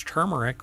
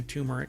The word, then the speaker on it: turmeric: I've had people when I say it's turmeric with an r and they're like there's no R in that no really because it's mispronounced quite a bit Yeah turmeric um and sweet honey